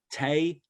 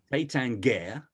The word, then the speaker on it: Taittinger: So I've written down Taittinger, Taittinger, Tatinger. It just changes, Mark. And I think Taittinger is probably the closest I've got.